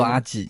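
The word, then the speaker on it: アジ: 接下来是竹荚鱼，日文读作阿吉，也是我的日文名。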